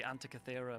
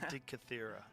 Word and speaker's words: Antikythera: Oh, the Antikythera mechanism. That's it. I never could say that. Antikythera.